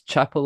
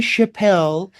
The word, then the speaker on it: Chappel: And um I pronounce it Chapel. It is Chapel. It's got two P. Um and in LA people go, "Oh, Chappelle." And they go, "No, it's Chapel."